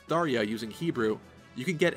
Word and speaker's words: Tharja: If her name is indeed an Indian name derived from Sanskrit, you would pronounce the J like an English J.